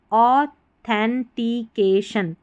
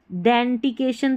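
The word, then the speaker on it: authentication: फिर है THEN को देन पढ़ते हैं, लेकिन यहाँ पर थेन पढ़ना है, ठीक है, इस स्पेलिंग में, तभी हमारा सही उच्चारण आएगा, थेन, TITCAK और TIUN शन, ऑथेंटिकेशन, ऑथेंटिकेशन बनता है। अगर हम THEN को देन पढ़ देंगे, डेंटिकेशन तो कोई स्पेलिंग नहीं होती, ऑथेंटिकेशन, ऑथेंटिक चीज़ तो आपने सुनी है, ऑथेंटिक वर्ड सुना है, तो ऑथेंटिकेशन, ठीक है, ऐसे पढ़ना है।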